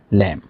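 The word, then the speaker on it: lamb: যেমন ল্যাম কম থাম bomb Dam ল্যাম মানে ভেড়া কম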